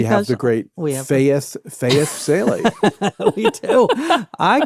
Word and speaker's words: Salie: Well, speaking of which, I don't think we even said your second name, which is not spelled with an AI, but it does have the sound. It is Salie, Faith Salie.